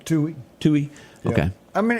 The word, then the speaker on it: Tuohy: The Tuohys, is that how you pronounce their name? Tui.